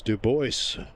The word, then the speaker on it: DuBois: duly reprimanded and instructed as to the proper pronunciation which is Duboce.